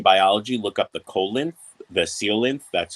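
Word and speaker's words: coelacanth: you're into marine biology look up the colon the seal length that's how it's actually pronounced it's a fish that was supposed to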